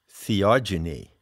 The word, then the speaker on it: theogeny: ever heard the word theogony i coined that term when i wrote the seekers handbook it's spelled t t-h-e-o-g-e-n-y genie as in genesis generation epigenesis genetics so what it means